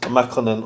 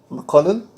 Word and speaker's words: Makonnen: a colorful okay so my name Makonnen it could be pronounced Makonnen or Makonnen is taken from the